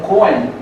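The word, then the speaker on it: Cohen: Kun os judeus originariamente eram conen um co h e n que se pronuncia no no no no yid como muito parecido como Kun e por isso que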